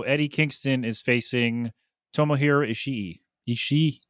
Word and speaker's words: Ishii: on the pre-show Eddie Kingston is facing tomohiro ishii ishi how do you say that easy yeah did I get it right I think